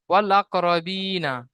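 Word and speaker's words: والأقربين: ওয়াল কমারি, ওয়াল আকরবিনা, ওয়াল আকরবিনা, আলিফ পুরো আউট হয়ে যাবে, উচ্চারণ হবে না, পড়া হবে না, শুধু লামকে পড়া হবে এখানে।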